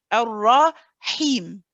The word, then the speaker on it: الرحيم: want to hear he, go straight into the kasra so that I can hear you say he. I don't want the sound at the beginning, the bit. I don't want that prolonged. Okay? Ar-Rahim, Ar-Rahim, Ar-Rahim. الرحيم. Him. حيم. Straight for the E.